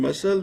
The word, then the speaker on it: muscle: in the same way c is silent in muscle in muscle there is c c